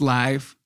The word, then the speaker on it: live: I pronounce it live. It's live. Right.